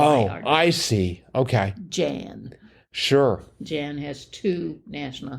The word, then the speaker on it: Jan: blank van e oh Jan yes or Yan as they probably pronounce it right in in the Netherlands so I didn't know